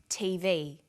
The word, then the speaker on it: TV: Notice that each letter in the abbreviation is pronounced separately, but the last letter is pronounced more strongly because it carries the primary stress. So we say USA, ASAP, ABC, and TV.